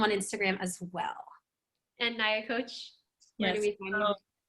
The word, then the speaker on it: Nyakoach: And my name is Nyakoach.